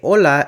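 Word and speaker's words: hola: Another standout feature of Español Gringo is that standalone <h> is typically pronounced as /h/, while in most Spanish dialects it’s always silent, so they say /ola/ and not for hello.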